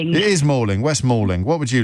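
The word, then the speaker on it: West Malling: How do you pronounce that? Christine, it's Ming. It is Mauling. West Mauling.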